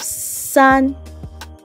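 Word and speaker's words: 三: tone sign and then we have sun sun sun like i said it's a flat tone and then we have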